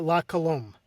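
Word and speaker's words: La Colombe: This is for Is it pronounced Lome? Is that right? Uh, La Colom.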